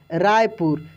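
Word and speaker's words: Raipur: तो उसका भी स्पेलिंग आप देखे होंगे कैसे लिखा हुआ था? RAI, राय, PUR, रायपुर।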